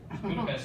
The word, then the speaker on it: Budapest: That's how you pronounce it. Budapest. There's like an ST, but they like trick you.